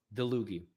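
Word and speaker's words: Dlugy: Dluggy. All right. Thank you. I'll try to pronounce it properly from now on.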